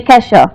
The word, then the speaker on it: Nikesha: pronounce my original Nikesha.